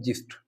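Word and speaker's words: gist: तो इसमें हम इसका जो साउंड होता है, इसका जो प्रोनाउंसिएशन होता है, वह होता है जिस्ट।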